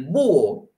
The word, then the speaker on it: búho: Tenemos el pato, tenemos el búho, acento en su U.